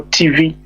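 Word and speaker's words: Tiv: Also, TV is spelled T-I-V, but they call TV.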